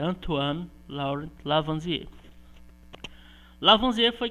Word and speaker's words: Antoine: a escrita é antônio lauri lavoisier mas a pronúncia antuano laura lavanderias lavam dinheiro foi quem digamos que